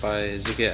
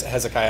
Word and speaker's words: Hezekiah: item first is it by zika I've never seen this name before so I'd probably pronounced it wrong um my name is Hezekiah Hezekiah I almost get it right almost close first and foremost um